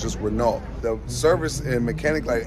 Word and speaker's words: Renault: It's spelled Renault in America, but over here, the T is silent, so it's just Renault.